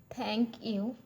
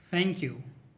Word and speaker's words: thank you: Now, as I said, there's a soft thaw. It's not thaw. Do not compare with the Bengali letter thaw. It should be thaw. So it should be pronounced at thank you.